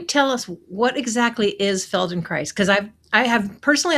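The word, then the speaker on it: Feldenkrais: So can you tell us what exactly is Felden Christ because I've I have personally I have never heard of that one.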